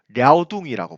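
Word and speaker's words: 遼東: 동쪽을 요동, 중국 발음으로 랴오둥이라고 부릅니다.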